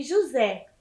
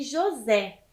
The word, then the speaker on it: José: lá com a professora são palavras oxítonas o Boitatá e José por quê Porque elas têm a última sílaba tônica e recebem o assento gráfico as palavras oxítonas terminadas em a as e es o os em e ens então prestem atenção Boitatá e José então é a última sílaba tônica do Boitatá e de José certo Então as palavras oxítonas